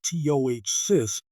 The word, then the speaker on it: ptosis: Tossis pronounced to cyst is a condition where the upper eyelid starts to fall lower than it should.